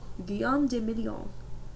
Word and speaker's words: Guillaume de Million: Guillaume de Million. Le Million, sorry. If that doesn't rhyme, you're not pronouncing it right.